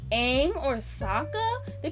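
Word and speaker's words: Sokka: said it like that it's Saka they call him Saka in the show they were calling him SOA SOA again it's not copyrighted call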